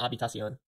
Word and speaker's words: Habitación: Habitación. Oh wait, that's right. The H is silent. Habitación.